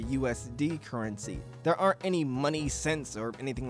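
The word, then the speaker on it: munny: Now, Kingdom Hearts does use its own currency called money. It's spelled M-U-N-N-Y, but I'm not sure if this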